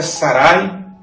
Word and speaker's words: Sarai: A primeira palavra é Sarai, e assim se pronuncia no hebraico, significa princesa.